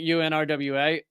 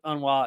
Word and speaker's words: UNRWA: beginning of this and I was pronouncing it you rwa apparently uh those in the know the the cool kids who spend a lot of time around un uh pronounce it Ana now I'm sure that